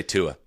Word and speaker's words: Tua: in the notes or Phonetically. Just say Tua. Yeah, say Tua.